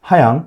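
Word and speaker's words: Rayan: 하양. 그 표기는 라이언으로 돼 있는 것 같은데 이게 발음은 하양이라고 돼 있더라고요.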